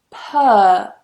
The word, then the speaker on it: purr: Now in final position, purr. Purr. Again, no R.